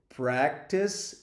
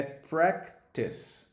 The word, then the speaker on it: practice: Send emails, praticar inglês, practice English.